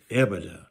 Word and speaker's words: EBITDA: worthwhile to invest in so what is evident that's the way i pronounce it okay earnings before interest